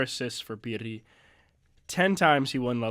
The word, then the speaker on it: Pirri: Can you roll your R's? Pirri.